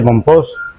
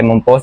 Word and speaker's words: Mompox: Bueno, el mismo la misma palabra de Monpos, algunos lo pronuncian con X al estilo al estilo español, otros lo pronuncian con J.